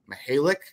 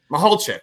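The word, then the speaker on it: Michalczik: So I want to see what, you know, a new philosophy with a veteran offensive line coach in Jim Mihalik. I'm going to butcher the pronunciation. Mihalchek, thank you.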